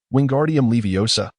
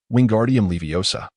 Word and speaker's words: Wingardium Leviosa: Wingardium leiosa. Wingardium leviosa. The students mimic all's pronunciation, chanting in unison, all flicks his wand,